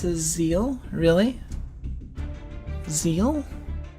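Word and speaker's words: ZEXAL: not he's not messing with me yeah it's pronounced zeru i mean it it's it's right here like it says right here on the wiki like using the power of zearu it you can't argue with katakana i'm sorry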